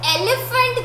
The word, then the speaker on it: elephant: ELEPHANT. Now just focus on this letter PH. These 2 letters. F. What sound is coming out? F. Elephant.